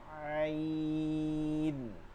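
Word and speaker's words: ع: আওয়াজটাকে চাপায় নিতে হবে আইন আইন আইন আওয়াজকে ভিতরের দিকে চাপায় নিতে হবে আইন লম্বা হা এর মাখরাজ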